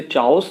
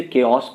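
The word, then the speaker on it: chaos: इन द केओस and confusion, ध्यान रखिएगा, इसे चाओस नहीं पढ़ेंगे, इसे केओस पढ़ेंगे, प्रोनाउंस इसका।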